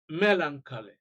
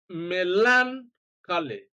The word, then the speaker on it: melancholy: A, stress is on the first syllable.